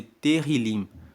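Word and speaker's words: Tehilim: O livro de Salmos, no texto original, na Bíblia original, é chamado de Terrilim. Se escreve T-E-H-I-L-I-M.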